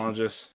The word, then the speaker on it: Tonges: Jake Tonges, is that how you say his name? Jake It's Tonges.